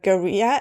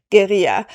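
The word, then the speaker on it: guerrilla: describe something as a gera attack. Now they say it like gorilla but I'm not sure they're talking about gorillas. I'm pretty sure they were talking about geria.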